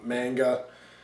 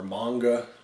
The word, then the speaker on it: manga: an adapted from from a manga or manga however you want to pronounce it both are correct and I guess this